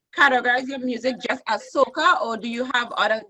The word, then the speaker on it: Soca: Like, for instance, you categorize your music just as soca, or do you have other genre that you call the music that you sing? No, I would just call it Soca. Soca, Sokah, I would say.